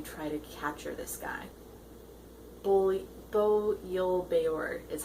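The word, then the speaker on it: Bo Yul-Bayur: Bo Yil Beor is how you say the guy who's their mark.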